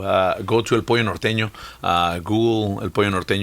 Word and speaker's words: Norteño: Yes, Norteño. Exactly. Uh yeah. I got to spell it out for the non-Espanol.